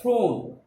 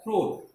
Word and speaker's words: throne: The last E is silent. Generally, E which comes at the last of the spelling, generally it remains silent.